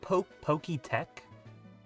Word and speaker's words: Poketch: Isn't it Pokey Tech? Because it's like T-E-C-H Tech?